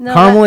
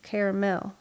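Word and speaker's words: Carmel: of people say Illinois I also say caramel it's caramel caramel Indiana caramel mentioned this on the last sounds like people around here trying to spit augia out they're like caramel like car caramel it depends on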